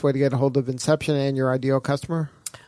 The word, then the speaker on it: Inxeption: to get ahold of inception and your ideal customer inception comm and it's with an X yes the next it's pronounced like the movie but it's spelled with the X and our ideal customer